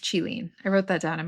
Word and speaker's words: Qilin: So this one is Kylin or Kirin or Qilin. Oh, I think it's pronounced Qilin.